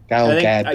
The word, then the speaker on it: Gadot: Sorry, Galad. You you pronounce the T. Um Israeli, not French, right?